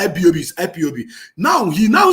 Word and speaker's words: IPOB: listen to this guy he couldn't pronounce ipob he was calling it lbob yes he was calling ibob listen that was the